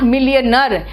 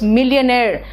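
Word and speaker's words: millionaire: मिलियनेयर है, इट्स नॉट मिलियनर, इट इज मिलियनेयर। मिलियनर नहीं है, इट्स मिलियनेयर।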